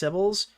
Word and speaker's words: Kibbles: Kibbles is pronounced Cibbles. I don't think he's earned the pronunciation. I'm going to call him Kibbles until I've until I've deemed him necessary to have it.